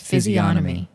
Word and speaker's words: physiognomy: You do not pronounce the G. Physiognomy? No, that is incorrect. It's physiognomy.